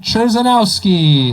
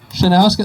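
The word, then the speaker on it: Chrzanowski: So if you think Matt Cherzanowski is the winner, make some noise. Matt. Am I saying it? I'm saying it wrong? Shanowski. There's a Z in there. Oh, they don't say the Z.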